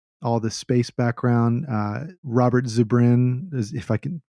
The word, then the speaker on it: Zubrin: Robert Zubrin, if I can pronounce that right.